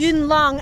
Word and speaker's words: Yuen Long: This is a city, I'm probably going to mispronounce it, Yuen Long, Yes. Yuen Long, outside of Hong Kong.